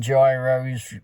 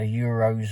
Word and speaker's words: gyros: any sense to me it's spelled Gyros and that's how I'm bloody we were saying it so don't broke the writing and tell me that it's not flipping Gyros you know when you see a gyroscope you don't call it a hero scope or a euroscope it's a bloody gyroscope so don't care that's what it's called if you spell it gyro that's what it is anyway in England it's called a kebab so so anyway looking